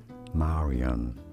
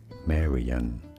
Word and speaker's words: Marian: in other languages or depending on the origin the country the accent the language it might be said also as marion like in french said as marion marion but more generally it is pronounced in english as marian and now you know